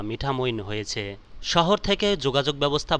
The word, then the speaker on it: মিঠামইন: এটি একটি প্রাচীন জনপদ মিঠামোইন কে অন্যান্য নামেও ডাকা হয় তার মধ্যে মিঠামোন বা মিঠামোন বলেও উচ্চারণ করে থাকেন নামের উৎস নিয়ে যে